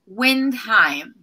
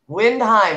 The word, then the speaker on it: Windheim: they got to ask you how do you pronounce your last name on fun windheim windheim i said it wrong there we go it's a difficult one windheim okay and i i guess i've got melanie